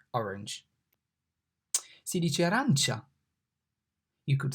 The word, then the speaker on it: arancia: A, arancia. The A here is pronounced like A in father. Father, fa, a, arancia.